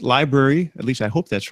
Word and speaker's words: LBRY: talking it's lbr Y.O we pronounce it library at least I hope